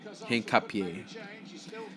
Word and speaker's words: Hincapié: Hincapié.